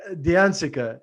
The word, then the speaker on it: D'Anzica: last name butchered my entire life so the diancica did i pronounce that yeah yeah beautiful name thanks for